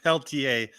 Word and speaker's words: Peltier: Well, you know, my last name is French and it's pronounced Peltier.